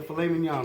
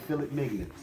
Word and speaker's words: filet mignon: okay this is the filet mignon on the cap okay people can't pronounce it right some people call it phillip mignons you have to